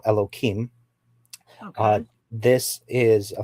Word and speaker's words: Elohim: So the first term that you used, and I'm going to break up the word. It's Elo and then Him, which I will call Elohim.